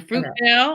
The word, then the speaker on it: Fruitvale: In Fruitvale, if I'm pronouncing that correctly. Yes, it is. In Fruitvale.